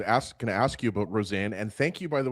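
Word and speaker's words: Rosén: because I was asking to ask you about Roseanne. And thank you, by the way, Danielle, for putting out the pronunciation because I think since he was drafted, we're just calling him Isaac Rosen.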